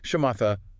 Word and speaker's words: Shamatha: That's where the Shamatha meditation comes in. Okay. Shamatha, tell me more about that. Sounds kind of intense. It is in a way, but it's so cool. Shamata, pronounced shamata.